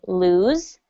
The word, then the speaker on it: lose: When you say the Z sound, the Z, that's when you can feel it in your vocal cords. That's right. You feel it in your vocal cords, and your vocal cords are vibrating. So you can pay attention to when your vocal cords are vibrating. And that's how you know the difference between lose and loose.